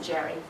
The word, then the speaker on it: Gerry: But then Elbridge Gerry, and he pronounced it Gary, even though we say Jerry, he drew the famous